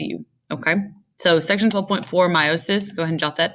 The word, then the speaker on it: meiosis: There is no one right way to say it. I learned it meiosis, and so that's the